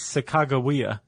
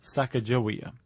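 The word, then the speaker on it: Sacagawea: So it's sakagawa, not saka jawya.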